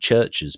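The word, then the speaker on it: CHVRCHES: band really popular here called churches but it's spelled CH H VV God I can't spell myself c h VV c h s so ches but it's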